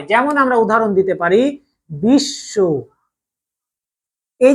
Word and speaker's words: বিশ্ব: উচ্চারণটা আমরা করি দুইবার আমরা বিশব বলি না বিশব বলি না আমরা বলি বিশ তাই না উচ্চারণ করতে